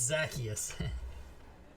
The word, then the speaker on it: Zacchaeus: Zacasius about that. Is his name Zacasius? Is that his name? I always say it funny like that, don't I? It's Zacchaeus. I know. You're adding extra letters and syllables.